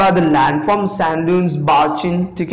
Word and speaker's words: barchan: Sand dunes, barchin, ठीक है, इसको barchin produce करते हैं, ठीक है, not barchan और ये सब, इसे आप कैसे pronounce करोगे, barchin, ठीक है, barchin is a